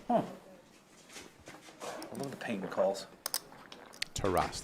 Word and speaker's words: Taras: Taras, that's how you pronounce Taras, it. Yeah. that is the official Taras. Ukrainian way.